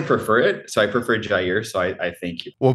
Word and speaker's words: Jair: So it is interesting how to answer your question, it's Jair, but I respond.